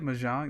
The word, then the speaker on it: Mahjong: Mahjong?